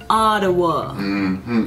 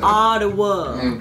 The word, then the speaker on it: Ottawa: we canadian or english canadians say ottawa like with the attitude like ottawa like ottawa what exactly or auto